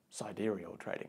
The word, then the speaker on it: Sidereal Trading: are what we're about and even how to pronounce it sidereal trading you